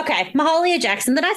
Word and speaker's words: Mahalia: Okay, Mahalia Jackson, then I said it right, was a